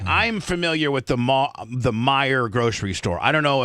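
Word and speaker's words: Meijer: Did you guys There's a there's a grocery store called I don't know how to pronounce it. spelled M E I J er Meyer. Is it Mayor?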